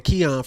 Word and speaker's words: Xian: come away with a Kian from that. It's so many different ones. Being honest, where it started, so pronunciation of X-I-N is technically like pronounced like Christian.